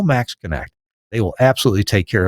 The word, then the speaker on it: MaxxKonnect: Call Max Connect. They will absolutely take care of you and make sure it's done right. The website, Max Connect. I know it's spelled funny. MAXXKONNECT for Max Connect.